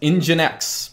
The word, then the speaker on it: nginx: is this thing in GI in X it's pronounced engine X that is your webserver install also cert bot